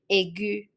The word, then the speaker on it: aigu: Female, we will be pronouncing it same way as the masculine, aigu, or the other way is aigu.